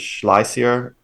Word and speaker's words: Schlesier: Karl Heinz Schleiser. Last name is spelled Schlesier.